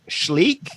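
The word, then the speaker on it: Schleich: kid too that was uh i think sh shleek is the one there see you're no you're pronouncing it correctly i'm totally proud i'm ruining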